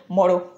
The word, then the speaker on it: motto: আমাদের পরের শব্দ হচ্ছে মোঠো মোঠো মোঠো এটা ফ্ল্যাপিং করলে ওরা উচ্চারণ করবে মরো মরো মরো আমরা সেন্টেন্সে এরকম ব্যবহার